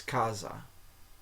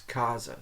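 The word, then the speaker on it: casa: in Italian like okay so in Spanish when you say house you say Kasa Kasa but in in Italian it's Kasa it's not Kasa it's Kaza spelled the same but it it takes that z sound when it's plac between two vowels so apparently it's the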